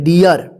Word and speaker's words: dear: तो इस तरह से भी आपको मिलेंगे जैसे डियर डी ए आर इसको डीर मत पढ़िए इसको र मत पढ़िए ध्यान रखिएगा